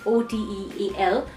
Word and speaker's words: hotel: just like hotel and we need to pay attention towards the pronunciation as H is silent in Spanish language so it would sound like OTE al or Oh take a